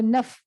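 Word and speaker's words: naḥ: converts that into an F sound. Dhiyo yo naf prachodayat. But frequently, since people don't know this, they say Dhiyo yo na prachodayat, which means please do not stimulate my intellect.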